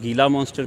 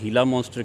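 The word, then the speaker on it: Gila monster: उसको कुछ लोग गीला मॉन्स्टर कहते हैं, या उसको प्रोनाउंस करने के लिए हीला मॉन्स्टर कहते हैं।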